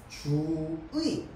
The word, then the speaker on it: 주의: 해당할까요 2번 규칙에 해당합니다 첫음절 이외 의다 그렇지 의가 두 번째 글자에 나왔잖아 맞죠 자 그럴 때는로도 발음 가능 이로도 발음 가능 주의도 되고 주이도 됩니다 자 다음 나의 같은